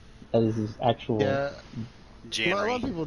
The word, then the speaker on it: Jan: But it's not John. It's J-A-N. That's how he spelled it for a long time. But legally, there is no dash. No, I mean, it's spelled J-A-N. It's Jan.